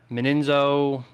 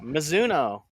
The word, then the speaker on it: Mizuno: to second place, the number 45, Toyota driver Meninzo. If I got that sponsor, I always get that one butchered up. Golf brand, I should know this. Yeah, Mizuno.